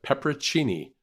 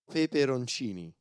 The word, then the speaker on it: peperoncini: Yeah, it's spelled wrong because it's got an extra P. Pepperoncini. No. Is how I should be saying. You should be almost. You should be saying peperoncini.